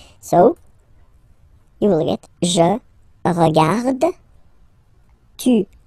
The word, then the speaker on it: regarde: So phonetically, only one form here.